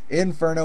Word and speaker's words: Infrno: it Inferno Inferno Inferno there's no e it's Inferno without an e so it's Inferno Inferno you